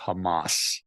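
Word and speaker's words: חמס: And in the verse that says, for violence against your brothers, the pronunciation of the Hebrew word for violence there is Hamas.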